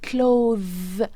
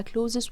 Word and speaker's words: clothes: اسمها clothes. clothes ملابس، اسمها clothes. ناس كتير بتقولها clothes وهي غلط، هي اسمها clothes.